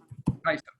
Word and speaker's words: Taiso: So if you go to YouTube and look up Radio Tazo, is it Tazo? Is that how you say it? Taiso? Taiso. Radio Taiso, and you can see